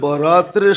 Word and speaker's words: বরাত: নাইলে লিখতে একরকমই লেখে লিখতে একরকমই আরবিতে এক উর্দুতে আরবিতে একরকমই লেখে কিন্তু উচ্চারণে ডিফারেন্স একটা হলো বরাত আরেকটা হলো বারাত একটা হলো মুক্তি একটা হলো চলন হুম মানে আকারের পার্থক্য